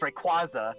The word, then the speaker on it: Rayquaza: I'm like, no, it's Rayquaza. It is Rayquaza Rayquaza. sounds calling him better. Ampharos. Official pronunciation legit.